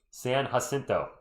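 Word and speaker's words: San Jacinto: Yes, San Hasinto.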